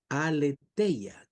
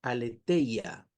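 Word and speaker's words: ἀλήθεια: La palabra verdad aquí traducida verdad es una palabra griega que se pronuncia alella. Aleteya con th. Aleteya con i latina.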